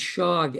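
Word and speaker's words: ság: A which is pronounced shog s is pronounced as sh in Hungarian uh that's some kind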